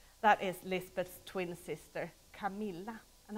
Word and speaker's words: Camilla: is Lizbeth twin sister Camilla and I'm pronouncing it the Swedish way Camilla a soundless great pleasure